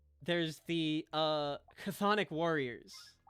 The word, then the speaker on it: Chthonic: But then like there's the Chthonic Warriors, which actually has the TH sound. But that word starts with a CH. Yep. Why isn't it Chthonic?